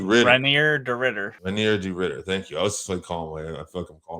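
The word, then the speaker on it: Reinier de Ridder: Renier de Ritter.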